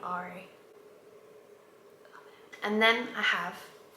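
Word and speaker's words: Arie: through them I've got Ari which is a r i e but it's pronounced like the letter R and then e Ari and I know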